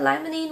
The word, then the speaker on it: limonene: Then we got limonene, which is from citrus oil.